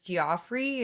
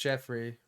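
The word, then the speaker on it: Geoffrey: I don't know if many people remember him, but his name was Goffrey and he did it's pronounced Jeffrey.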